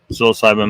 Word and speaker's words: psilocybin: It was like, where they used like they found people that had used mushrooms, psilocybin mushrooms, psilocybin mushrooms. I need to get in the habit of pronouncing it correctly. Psilocybin. not psilocybin.